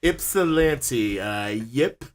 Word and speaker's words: Ypsilanti: I might have to have like a glossary or index or something in the back of my book, like Ypsilanti, Ypsilanti.